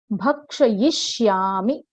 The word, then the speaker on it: भक्षयिष्यामि: फिर नेक्स्ट है भक्षयिष्यामि, उच्चारण इसका देखिए, भक्षयिष्यामि, है ना।